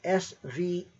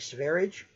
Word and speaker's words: Sverige: pronounced in Swedish, spelled S-V-E-R-I-G-E, something like Sverige, okay, or Sverige, I don't know.